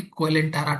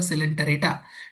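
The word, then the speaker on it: Coelenterata: कोलेंटा मत पढ़ना। यहां हिंदी में लिखा हुआ है सिलेंटरेटा।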